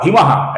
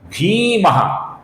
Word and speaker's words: भीमः: भीमः का जो भी अक्षर है, ये दीर्घ अक्षर है दोस्तों। कुछ लोग इसका भीमः ऐसा ह्रस्व उच्चारण करते हैं, जो कि गलत उच्चारण है। इसका उच्चारण है भीमः, दीर्घ उच्चारण हमें करना है दोस्तों।